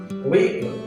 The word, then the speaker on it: vehicle: Vehicle is the wrong pronunciation, and the right pronunciation is vehicle. The letter H is silent over here, so the right pronunciation is vehicle.